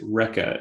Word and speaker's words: Recce: that uh completing project rekka if i'm if i'm pronouncing that correctly yeah we call it wrecky ricky okay um project